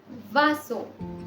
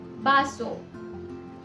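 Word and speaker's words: vaso: Alphabet B की दो तरीके की प्रोनाउंसिएशन हो सकती है और दोनों ही ठीक है। तो कुछ जगहों पर इसे व प्रोनाउंस किया जाता है, कुछ जगहों पे इसे ब प्रोनाउंस किया जाता है। जैसे वासो या फिर बासो, वेला या फिर बेला, वाका या फिर बाका। दोनों ही प्रोनाउंसिएशन बिल्कुल ठीक है।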